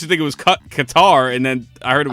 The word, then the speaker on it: Qatar: no I think it's I used to think it's cutter but I think it is it's Qatar I used to think it was cut Qatar and then I heard